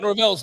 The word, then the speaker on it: Norvell: I thought it was my man run for the most mispronounced part. Mike Norvell's name.